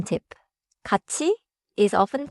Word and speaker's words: 같이: One small pronunciation tip. 같이 is often pronounced close to in natural speech but write it as 친구하고 같이 가요.